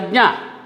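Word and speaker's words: ज्ञ: This is pronounced as jna. Jna. This letter is pronounced as jna. This is formed of ja, na, jna.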